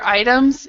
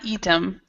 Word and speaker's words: item: and David these um this word right here items and item so it's not eem or items item is how we pronounce it item okay item yeah all right